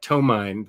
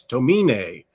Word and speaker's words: Tomine: been told by next imaginat that it is pronounced adrian tomine not tomine that it's uh i think it may have asian roots so it's tomine don't mean it yeah i think um and